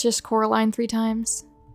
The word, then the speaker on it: Coraline: for me it's just Coraline three times we all know that one guy who calls this movie Caroline when you spell your